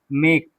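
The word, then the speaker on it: make: मेक क्या बोलेंगे? मेक तो मेक में ई क्या हो गया हमारा? साइलेंट। ई क्या हो गया? साइलेंट। अर्थात इस मेक को हम ऐसे पढ़ते हैं। मेक एम ए के मेक मेक ही नहीं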